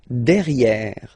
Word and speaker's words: derrière: So if you look carefully, you've got E here and then double R, so it will open the sound of this E, and you should pronounce it E, okay? De, derrière. Same thing here, you've got this E accent grave, E, derrière, okay? Don't pronounce the final E.